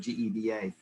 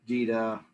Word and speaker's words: GEDA: of years ago and we asked how you pronounce the name and probably 80 percent of the people said geda but you'll hear gita uh gita all kind of different things yes and another thing